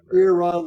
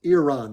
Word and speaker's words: Iran: um Iran or Iran I say Iran like here's ear and then a guy named Ron is so it's Iran that's how they like